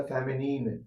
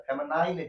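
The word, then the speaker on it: feminine: Second अपना आता है वो है फेमिनिन जेंडर। कौन सा gender? फेमिनिन। आई एन फेमिनिन जी ई एन डी आर इसको इसको भी बोलने में बहुत सारा बच्चा गलती करता है। फेमिनाइन जेंडर कर देता है।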